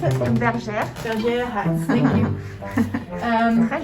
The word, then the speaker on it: Bergère: How would you pronounce it? Bergère.